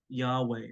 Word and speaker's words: Yahweh: a nice technique is just to breathe breathe Yahweh often the um especially the Orthodox monks would